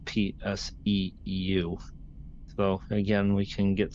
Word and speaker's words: PSEU: For example, SU. NVDA calls this SU, and it's PSEU.